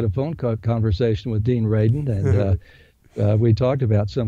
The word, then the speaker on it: Radin: I still can't pronounce his name right. Sorry, Dean. Dean Radin? Uh-huh. Yes, Dean Radin, about life after life.